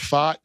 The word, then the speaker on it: Pfaadt: Kelly at the top, and the emergence of Fott, who's given them now a good number. So that's how you pronounce his last name. Yeah, Brandon Pfaadt.